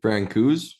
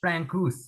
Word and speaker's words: Francouz: Francouz, Francouz.